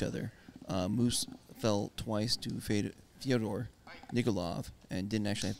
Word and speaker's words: Fyodor: I mean, all you have to do is think about it's like Theodore. But Right, with an of F.